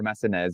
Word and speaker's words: Massenez: So it's French, so it's Massenez, or Massenez, you can say as well.